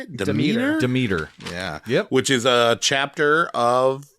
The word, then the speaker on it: Demeter: Demeter.